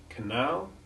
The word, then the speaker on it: canal: noted that in a very few words like canal cabal and halal in which the al ending is stressed it has the short a1 sound and not the short